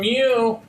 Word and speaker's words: mu: work okay that's another Greek letter okay so mu is it's pronounced mu and it's like it's kind of